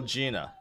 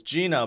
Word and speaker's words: Jenna: Yeah, it's spelled Jenna, but her name is still Gina. She even says it. It's Gina, but it's spelled Jenna.